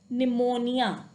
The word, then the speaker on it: pneumonia: say the term like pneumonia, pneumatic. Although P is there, but we cannot say P pneumonia, P pneumatic, not like that. P is silent here.